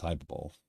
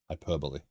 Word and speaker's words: hyperbole: I've always felt that it's hyper ball right hyperbole hyperbole sorry I think I've been